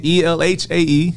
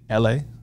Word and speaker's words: Elhae: I mean, Elhae. That's how you can find me. Every Life Has an Ending is the acronym. Mm-hmm. LA. That's how you say it.